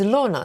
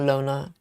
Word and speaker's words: Lorna: So it's a short O, not long. Lorna. Lorna? Lorna. Sounds, I don't know. Because Dana is R. Lorna. So it's Lorna, not Lona.